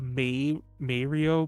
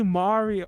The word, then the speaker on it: Mario: a video recently where they were trying to defend the may mario pronunciation and i'm like bro what are you doing go listen to an italian person say that name they'll say mario mario you know i can't